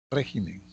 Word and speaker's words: régimen: Régimen, antepenúltima sílaba.